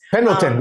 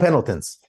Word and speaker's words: Pendleton: Pendleton, we call them Pendletons.